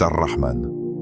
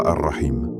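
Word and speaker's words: Ar-Rahman: C'est Arrahman. Pas arraim. Arrahman un si vaste qu'il englobe même ceux qui doutent encore de leur place.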